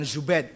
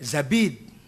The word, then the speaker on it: Zabid: Az-Zabidi bukan Zubaid, Zabid.